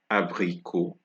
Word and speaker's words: abricot: So examples, right, that shows that the letter T is silent at the end of words are abricot, abricot, salut, salut, and we have vin, abricot, salut, vin, abricot, salut, vin.